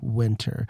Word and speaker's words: Wynter: I kind of like Winter. Winter is fine. Like, I kind of like Winter, and that to me sounds like the proper way for a name, Winter.